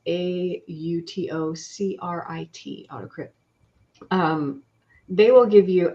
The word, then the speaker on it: AutoCrit: as in-depth as pro-writing Aid and autocrit and that's spelled a u-t-o-c-r-i-t autocrypt um they will give you actually like writing